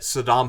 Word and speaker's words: Saddam: Apparently, he knew that Saddam Hussein's name was not pronounced Saddam, but he said it anyway because it pissed Saddam off.